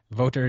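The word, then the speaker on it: Wouter: note on my name voter is a German name and it's pronounced similar to vo ter in English so that's what I'm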